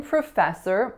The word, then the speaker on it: professor: So in professor, the real trick is that the P-R-O doesn't make the pro sound.